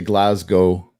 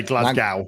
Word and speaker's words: Glasgow: here uh I gotta I gotta make sure I say glasgo glasgo glas GL don't say Glasgow don't say Glasgow oh